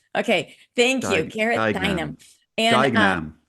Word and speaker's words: Duignam: Dynam. Okay. Thank you. Gareth Duignam. Dynam. And Duignam. Dynam, right?